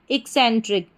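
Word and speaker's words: eccentric: पहले ई से इक, फिर CEN सैन, TRIC ट्रिक, इक्सेंट्रिक।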